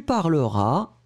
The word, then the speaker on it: parleras: une fois je parlerai tu parleras s final pas prononcé il parlera elle parlera